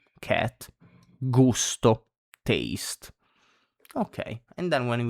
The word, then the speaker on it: gusto: So same as before, when it's followed by the consonant G, when it's followed by A, O, and U, so A, O, U, it's pronounced like G.